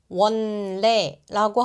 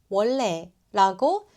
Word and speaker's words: 원래: 원에 니은이 뒤에 리를 만나면 르로 바뀌어요. 원래라고 하면 혀가 꼬여요. 원래라고 흘러가듯 말해 보세요.